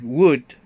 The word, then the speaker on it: would: so the same like would should you don't pronounce the letter l okay don't forget that